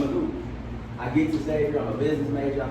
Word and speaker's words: Xavier: Everybody say Xavier.